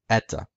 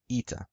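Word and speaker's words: ήτα: Greek it was pronounced ETA in Co Greek it was pronounced ETA in modern Greek it's pronounced ITA now again Ada is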